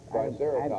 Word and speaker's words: Triceratops: We found a, I want to say it the right way, Triceratops. It's like a big, it's a dinosaur. Okay. Triceratops. I'm not sure I'm pronouncing it correctly.